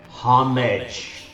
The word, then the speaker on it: homage: usage it is pronounced homage listen to any member of Parliament listen to any well-trained Shakespearean act actor uh and you will find that that word is not pronounced like fromage sorry I had a